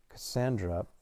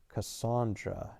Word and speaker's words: Cassandra: Cassandra, pronounced Cassandra, not Cassandra, was such a bizarre name for 1951 rural Kansas that I might as well have been called Zorel.